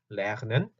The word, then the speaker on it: lernen: 볼 건데 이건 자, lernen 있죠. lernen 이거는 영어의 learn 배우다 공부하다는 뜻입니다. learn 그래서 lernen, lernen 이라고 우리말로 보통 쓸 텐데 lernen, 그 목에서 그 목 안쪽에서는 소리가 나야 돼요. lernen, lernen 이거든요.